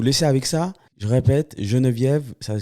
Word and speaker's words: Jenevieve: Je répète, Geneviève, ça s'écrit avec un J, donc J E N